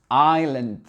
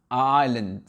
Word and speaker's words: island: Ici, la lettre S, pareil, on ne la prononce pas, donc ça donne island, island.